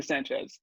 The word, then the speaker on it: Sanchez: that my full name is uh sanchez oh yeah sanchez